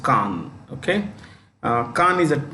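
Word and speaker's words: Cannes: is a Khan film festival Khan c-a-n-n-e-s is pronounced Khan okay uh Khan is a town on the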